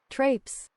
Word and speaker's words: traipse: One moment, Chad, I'm gonna look up how to pronounce that word, or what it even means. Trapes.